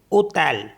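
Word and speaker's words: hôtel: means होता है बैग एच ओ टी ई एल इसमें एल है लास्ट में तो इसको भी पढ़ेंगे इसको पढ़ेंगे क्योंकि एच साइलेंट है तो स्टार्ट करेंगे ओ से ओ तल ऐसे ही ए वी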